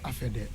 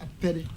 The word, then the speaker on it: Afede: Apede. Fa. F is pronounced fa. Fa. Apede. F yeah.